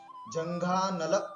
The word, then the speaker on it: जंघानल: जंघानल, कहीं जगह पर जंगावली लिखा है, वो गलत है, जंघानल आपको उच्चारण करना है।